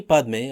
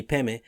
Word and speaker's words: Padme: Mani Padme or Mani Peme are recited almost as one word.